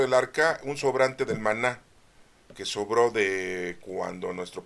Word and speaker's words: maná: comer un tipo pan Maná quiere decir maná no se dice manón Qué quiere decir qué